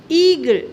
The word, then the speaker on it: eagle: What is the beginning letters of eagle? E A. E A. But letter A is silent. Letter A is silent. So that long sound of E here.